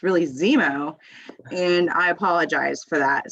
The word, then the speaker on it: Xeemo: incorrectly this entire time because i've been saying xevo but it's really zemo and i apologize for that so but it is spelled like exempo i just it but it's pronounced zemo it's just pretty it looks kind of like